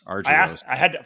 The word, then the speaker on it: Argyros: Argyros.